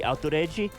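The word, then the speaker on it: アウトレイジ: It's outrage, pronounced in Japanese, the way they say it.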